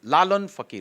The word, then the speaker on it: Lalan Fakir: Lalan Fakir, the pronunciation was not right when the announcement happened. It is Lalan Fakir, Lalan Shah Fakir, Sufi.